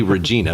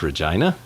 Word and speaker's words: Regina: that is yeah and it's hard not to say regina because that's how it's spelled but i'm almost positive it's regina i don't know maybe